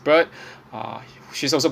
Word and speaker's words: Baird: actually Lucy Gray Bird, Bird Baird, okay, it's pronounced Bird.